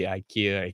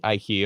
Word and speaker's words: IKEA: Sweden which I found I like to be Ikea Ikea stuff from he said um he bought